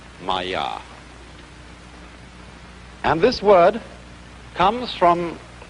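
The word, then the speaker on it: माया: this kind of thing is the sanskrit term maya i'm going to write that down for you pronounced maya and this word comes from a root in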